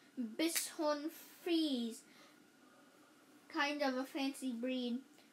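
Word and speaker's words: Bichon Frise: owners said Charles mom she pronounced it it like Bish Bish bishon fre kind of a fancy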